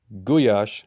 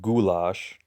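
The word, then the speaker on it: gulyás: they think magic cuisine goo Yosh not pronounced goulash is a beef stew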